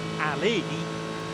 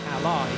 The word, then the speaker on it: Ally: Because I was told to remember that when pronouncing it, rather than saying, as I did for the opening time yesterday during free practice for Ali, that's not the right way of saying it, Ally is, and I have always